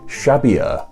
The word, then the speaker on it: Xavier: i also read that in basque the x makes it sh sound like a sound while the v makes a b sounder sound so xavier imbasque may actually have been pronounced shabia apparently that's just one